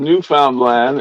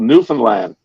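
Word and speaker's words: Newfoundland: new phone land uh it's not called New Found land it's called new land yeah but the way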